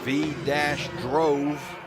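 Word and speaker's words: Vydrova: Her phonetics is just V-drove-a. How it's actually spelled is a little tough. She misses the first free throw. It's spelled V-Y-D-R-O-V-A.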